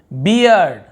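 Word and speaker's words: bear: अब ई का भी हम एग्जांपल लेते ए, अब यहाँ पे ए पढ़ना है, जैसे बेयर, ये बियर नहीं पढ़ रहे हैं, बेयर, रीछ, भालू जो बोलते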